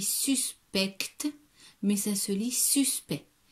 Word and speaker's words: suspect: Alors, ça se lit, ça s'écrit suspect, mais ça se lit suspect. On ne prononce pas le C et le T.